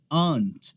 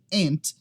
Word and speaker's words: aunt: Essa aqui é aunt, se você estiver no inglês britânico, ou ant, se você estiver com o inglês americano.